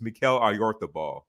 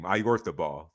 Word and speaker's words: Oyarzabal: So I'm not even sure if this is the correct pronunciation either. I'm just Oh, going off. jeez. I'm just going off what commentary how commentary says his name. It's Mikel Oyarzabal. That's how commentary says his name, Oyarzabal.